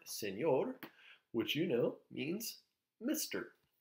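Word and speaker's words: señor: of the way okay we start out here with si which hopefully you know is s okay so si we have an A which is a neat n yay and with a little squiggly oh no and the a a which is R so you get the word Senor which you know means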